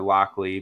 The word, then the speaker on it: Lochlea: I'll drop a coupon code for Lockley because, we both really love that distillery and we have some interesting things in from them.